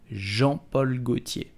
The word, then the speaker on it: Jean-Paul Gaultier: You will simply say Jean-Paul Gaultier. Jean-Paul Gaultier. Do not pronounce Jean, okay?